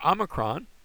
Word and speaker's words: omicron: Next is the omicron. Omicron has the ah sound. It looks like our O, but it doesn't have an O sound. It has an ah sound.